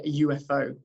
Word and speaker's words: UFO: a cat, and a UFO. And the UFO is probably the tricky one there because even though it starts with a U, we use the Y sound at the beginning of it, which is a consonant sound.